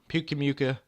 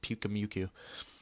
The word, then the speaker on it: Pyukumuku: Shave Gorilla's options are Mega Sableye, Mamoswine, Mimikyu, Metagross, Volcanion, Gliscor, Galvantula, Pyukumuka. That's how he pronounced it. I always pronounced it Pyukumuku.